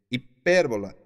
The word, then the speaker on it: hipérbola: la figura literaria hipérbola y dice hipérbola h&p y r&b o el acento en la primera e hipérbola y yo hago